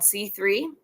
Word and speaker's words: Si3: I am a co-founder of an organization called C3. It's spelled SI3. So the C in there, SI, is inspired by my time in Mexico and means saying yes to Web3.